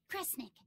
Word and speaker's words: Kresnik: Which of those first two readings feels right to you? Sound it out. Cre, Sneera, cre, snick. Kresnik. Kresnik feels right somehow.